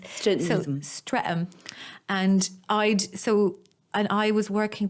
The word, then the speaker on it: Streatham: He was living in Streatham. Streatham. Streatham, babe. I love the way you pronounce stuff. Yeah, go. St. Rethams. Streatham.